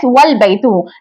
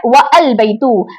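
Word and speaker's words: وَالْبَيْتُ: And the house is pronounced as वल बैतू, not व अल बैतू, बल्कि हम इसको व अल बैतू नहीं पढ़ेंगे। व अल बैतू पढ़ना गलत है, क्योंकि हमजातुल वस्ल कोई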